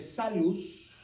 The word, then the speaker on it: salus: Entonces, la letra que se pronuncia como U se ve así como nuestra V. Entonces, cuando dice salus, parece que dice salvs.